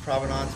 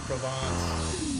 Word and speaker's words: Provenance: Several different pronunciations, Provenance, Provence. It all depends on your accent and your pronunciation of it.